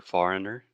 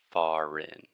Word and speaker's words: foreign: So, for example, foreign or foreigner, que seria estrangeiro, or sovereign and sovereignty. We just do not pay attention to the crazy writing and just think this is sovereign, earn, foreign, foreign.